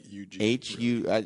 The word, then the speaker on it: Hugues: I like 6 letters, 4 silent letters. What are the letters? Hugues, but it's more like UG. That sounds like Hugh to me. I don't know if I'm. Well, it is, the, but in French.